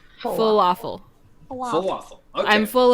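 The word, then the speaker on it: Fullaffle: spelled like normal Falafel it's spelled um like full yeah and then like waffle so f u l l a FF l e full waffle WAFF full waffle I'm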